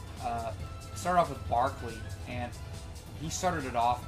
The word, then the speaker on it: Berkeley: So, and it started off with with B uh or Barkley, that's how you say it. Sometimes I do Berkeley. uh started off with Barkley and he started it